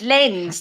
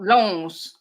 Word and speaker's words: Lens: He said it's Lens, not Longs.